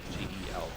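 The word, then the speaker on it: googol: It's Googel. I've only heard it pronounced Google in my entire life. Even before Google, I've only heard it pronounced Google. Maybe that's where it came from. But no, the actual number is Googel.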